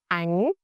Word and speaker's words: bánh: With our final consonant, nhờ, the tongue position, you press the middle of your tongue against the roof of your mouth near the hard palate. When nhờ is at the end of the word, it sounds like ngờ, as is in singer without tone.